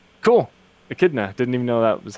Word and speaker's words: Echidna: Echidna. Didn't even know that was how you pronounced it.